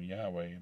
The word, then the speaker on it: Yahweh: phony way sound in yahweh come from as green said german sources in german uh the v sound is rendered by the w w although the german critic spelled the name yahweh they pronounced it which